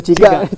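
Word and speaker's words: cigak: Ciga ni sebut ejaan dia tu. C I C C I G A K.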